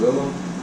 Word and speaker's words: Willem: It's Willem Dafoe. It's not William?